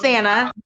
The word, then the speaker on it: Sanaa: I swear, like every time you say my name wrong, it's Santa. It's just Santa. like Anna with an S.